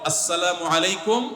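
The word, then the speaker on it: السلام عليكم: সালামের উচ্চারণ বাড়ানোর জন্য শুদ্ধ করে সালাম দিতে হবে আসসালামু আলাইকুম ওয়া রাহমাতুল্লাহ কয়দিন পর পর দেখবেন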